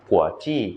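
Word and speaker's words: 国际: หรือเเปลว่า เครื่องบินนะครับ ส่วนคำว่าฉ่าง ศัพท์เกี่ยวกับลานกว้าง นะครับ จีฉ่าง มี 2ประเภท กั๋วจี้ จีฉ่าง กับ กั๋วเน่ยจีฉ่าง กั๋วจี้ จีฉ่าง มันเเปลว่า สนามบินนานาชาติ คำว่า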